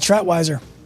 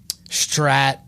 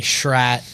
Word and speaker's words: Schratwieser: What do they say? Strat with a T. They don't say Schrat. I mean, everyone calls me Schrat, Schrat.